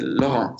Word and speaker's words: Laurent: with my name, because in French it would be Laurent, so the accent would be on the second syllable. But in Luxembourg, we say Laurent, so it would be on the first one, which is more like the German way, because they always put them in the first syllables.